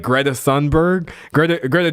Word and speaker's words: Thunberg: We're going to act like Greta Thunberg, Greta, Greta Tunberg, I got to pronounce her name right, is just some crazy crazy uh never knows what she's talking about.